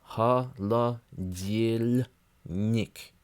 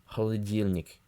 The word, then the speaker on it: холодильник: yeah is followed by me a soft n ha la deal Nick holla deal Nick anyway I'm not even sure that I pronounced it perfectly that time go ahead and